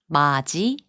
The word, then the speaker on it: 맏이: 맛이, which means firstborn, is pronounced as 마지.